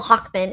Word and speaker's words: Hacmon: It turned well Hawkman. It turned into Hackman. Hackman is fake." because Moses likes to pronounce his last name Hawkman as Hackman, which is a more Americanized version of it.